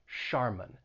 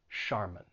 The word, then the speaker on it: Charmin: why but that's ch it's not a cha sound it's going to be pronounced like an sh sh charmin and that final syllable has that schwa charmin charmin and then we